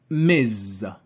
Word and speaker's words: Ms.: we use miss and when we don't know whether the woman is married or single we go for miz and for men whether